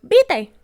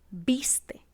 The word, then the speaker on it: viste: Barbarismos por no pronunciar ciertas consonantes intermedias, como por ejemplo, vite, en vez de decir viste.